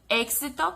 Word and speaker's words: éxito: A gente tem aqui éxito, que é uma palavra cognata, que no português vai se escrever da mesma forma, tirando o acento, né, a acentuação. E a pronúncia vai ser diferente, êxito.